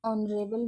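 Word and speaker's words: honourable: Example ले लेते हैं एन ऑनरेबल मैन। ऑनरेबल मैन है तो ऑनरेबल मैन में जो एच है वो साइलेंट है और जो बाद का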